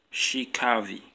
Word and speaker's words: Shey Kaavi: by mainly you - hi his name is pronounced she Kathy Pascal Kiki the so-called leaders walking you know